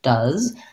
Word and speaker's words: does: same as this word do we have does i would rewrite that like this that has vowel schwa and the s and the z sound the letter s says the z sound does similar to the word was um you'll see that